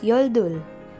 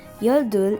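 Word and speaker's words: 열둘: 10 and number one and next is yoldul which is number 12 in korean again your duel is 12.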